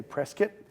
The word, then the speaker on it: Prescott: Well, technically, yes, but the natives here like to say Prescott, like the word biscuit. That makes perfect sense. Great, so we'll talk about how the Claretians came to Prescott, and then from there